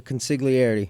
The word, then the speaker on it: consigliere: And I can't still not say I'm gonna call it the family joint, but how do you pronounce the 8th joint? The consigliere. Consigliere.